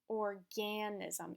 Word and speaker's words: organism: will say this word organism did you hear how I pronounced the beginning part a little bit longer and then this was an a sound so listen again organism it's not so this